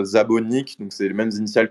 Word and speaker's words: Nick Szabo: Effectivement, Nick Szabo, il est d'origine hongroise et en hongrois comme en japonais, on va inverser l'ordre du nom et du prénom par rapport au français par exemple ou à l'anglais. Et donc son nom, ça se prononce Szabo Nick, donc c'est les mêmes initiales que Satoshi Nakamoto.